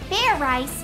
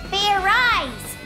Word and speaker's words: Fairize: idiot like i said it's not fair rice it's fair eyes do it again and this time make sure you pronounce the z zed let's do this right